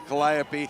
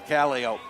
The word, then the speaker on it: calliope: difference in pronunciation well we always say if it's on a Riverboat it's a calliope it's on a circus it's a caliope but then I got